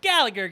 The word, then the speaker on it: Gallagher: Gala Silent G her. Gallagher. It's Gallagher, goddammit. It's Gallagher. But that's fine. Gallagher. Just leave the G.